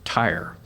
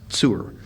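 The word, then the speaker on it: צור: same root that's used for the city commonly pronounced tyre but it's actually pronounced sewer so the rock here is is a fortification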